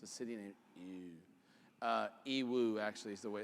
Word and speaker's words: Yiwu: It's a city named Yiwu, actually, is the way it's pronounced.